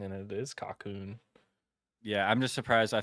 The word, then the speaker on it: Cocoon: Cocoon was my guess. Oh, Cocoon was the winner. I thought it was That's another pronounced. tally for old SMC. I thought it was pronounced Coco on, but Coco on.